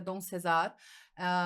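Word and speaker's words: Don CeSar: Escreve César mesmo, mas se pronuncia Dom Cesar.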